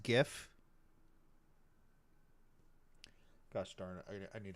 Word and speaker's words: GIF: It's pronounced GIF. Huh? .gif, like the peanut butter.